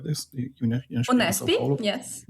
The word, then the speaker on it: UNESP: And when you shared the material, what you did at UNESP, is it pronounced like this? UNESP in Sao Unesp?